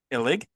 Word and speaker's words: Illig: Mike Illig, I see that's how you pronounce that, might want to reevaluate, my friend,